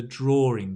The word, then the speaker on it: drawing: This word draw, because it's drawing, you put an R sound. Drawing, like ring on the finger, right? Ring, drawing.